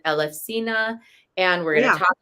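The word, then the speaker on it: Elefsina: the city of eluses which in Greece they actually call it elefina and we're going to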